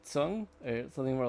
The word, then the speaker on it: Tzeng: God, you know what's funny, Jeff, is that I recently started to uh go by the traditional pronunciation. So that is actually that's how I pronounce it. Oh, really?